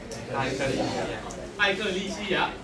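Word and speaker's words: ἐκκλησία: 教会原文的意思是那个字怎么念？艾克利西亚。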